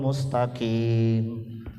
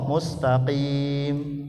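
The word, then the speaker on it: مستقيم: Jakarta itu, ada imamnya bacanya ihdinas siratal mustaqim. Pakai huruf kaf. Harusnya gimana? Ihdinas siratal pakai qaf, mustaqim. Qaf, kaf beda dengan qaf, Bu.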